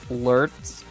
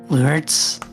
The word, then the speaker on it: Laertes: That's so surprising because, you know, someone else in my chat also said, did you know that in the original Greek, Laertes were pronounced Lurts?